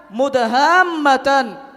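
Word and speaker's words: مُدْهَامَّتَانِ: katanya ada di sana mudhamatan kedua surga tersebut tanpak hijau tua I hijau tua cara membacanya mudaha mudaha Matan dipanjangkan baru didengungkan kemudian mata airnya Bagaimana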